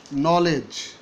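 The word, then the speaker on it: knowledge: কিন্তু এইভাবে বলা যেতে পারে ওকেই, ওকেই, কে হচ্ছে খ, ইংরেজিতে ক উচ্চারণ নেই। যেমন নলেজ, নলেজ শুরু হয়েছে কে দিয়ে, আমি তোমাকে চিনি,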